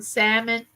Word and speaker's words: salmon: two days ago some salmon you know the L silent I was trying to